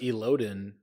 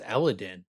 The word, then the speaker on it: Elodin: He pronounces Elodin as something else too. Right? He says Eladin. Like, yeah, I don't like that. Like, that doesn't sound right at all.